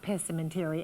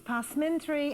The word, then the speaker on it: passementerie: Looks like pessimentary actually, but it's positry.